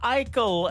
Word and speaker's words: Aichel: Unbroken, unbroken, She is another great Canadian artist, and she is a good friend of mine, Alicia Eichel, and that is called Unbroken.